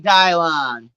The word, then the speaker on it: Dylan: I like Dylon. But it's spelled Dylan, pronounced Dylon.